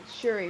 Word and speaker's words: Shuri: that's a hard place you got you put sherry in there i i always say her name wrong shuri right yeah sure for her and she already